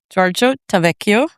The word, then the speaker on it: Giorgio Tavecchio: It is our kicker coach, Giorgio Tavecchio.